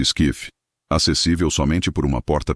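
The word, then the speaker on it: SCIF: informações confidenciais compartimentadas ou scsf em inglês pronuncia-se skif acessível somente por uma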